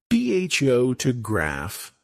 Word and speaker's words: photograph: PHO to graph, stress on the first syllable.